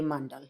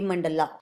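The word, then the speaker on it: मण्डल: Okay, and the correct pronunciation is mandal, not a mandala. British had added a at the end of the nouns and pronouns to Romanize the language, Hindi and Sanskrit.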